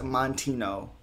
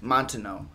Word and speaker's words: Moutinho: goodie cantonetti uh versus chris montino which montano and that's how you say it montano uh which we